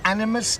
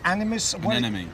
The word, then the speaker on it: anemone: Animus? Anemone.